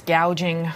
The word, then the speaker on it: gouging: ban on PR price gauging on food oh kamla it's not gauging it's gouging she can't even pronounce her